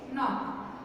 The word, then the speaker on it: knock: Now question number 4, the K in knock is silent. See student, NKNOCK, knock. Okay, in this word knock we say that knock knock knock. Directly what we say? Knock. NOCK, knock. We never pronounce K. Knock. Do we pronounce knock? No, we pronounce only knock. So there is this K is silent.